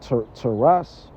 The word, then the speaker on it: teras: I believe the Greek word is pronounced teras.